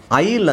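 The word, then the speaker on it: aisle: ಎಸ್ ಎಲ್ ಅಂತ ಇದಿಯಾ ಎ ಐ ಎಸ್ ಎಲ್ ಇ S silent ಆಗಿರುತ್ತೆ ಎಸ್ ಅನ್ನ ಉಚ್ಚಾರಣೆ ಮಾಡಂಗಿಲ್ಲ ಬರಿ ಬೇಕಾದ್ರೆ ಮಾತ್ರ ಬರೀಬೇಕು ಈ ಸೈಲೆಂಟ್ ಆಗಿರುತ್ತೆ ಸೋ ನಮಗೆ ಉಳಿಯೋದು ಉಳಿದಿರೋದು ಬರೀಬೇಕಾದ್ರೆ ಹಿಂಗೆ ಬರೀಬೇಕು ಬಟ್ ನಾನು ಉಳಿದಿರುವ ಅಕ್ಷರ ತಗೊಳ್ತಾ ಇದೀನಿ ಉಳಿದಿರುವ ಅಕ್ಷರಗಳು ಇದು ತಾನೇ ಉಳಿದಿರೋದು ಬಟ್ ಇದನ್ನೇ ಓದಬೇಕಾದರೆ ನಾವು ಹೆಂಗೆ ಓದಬೇಕು ಐಲ್ ಅಂತ ಓದಬೇಕು ಉಚ್ಚಾರಣೆ ಇದರದ್ದು ಆಯಿಲ್ ಓಕೆ ಇಂಗ್ಲಿಷ್ ಅಲ್ಲಿ ಆತರ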